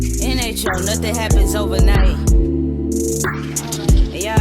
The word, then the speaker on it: NHO: NHO, you gotta say it like that, NHO.